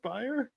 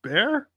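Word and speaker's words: Baier: that was really funny it's not pronounced Byer it's pronounced bear it's pronounced bear name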